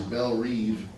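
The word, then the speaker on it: Belle Reve: childhood home in Mississippi Belle bread which she pronounces Belle Reed was lost so she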